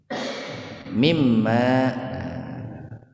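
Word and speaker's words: مِمَّا: dihilangkan diganti dengan tasdid jadi mimma makanya membacanya itu harus didengungkan mimma gitu Min dari ma apa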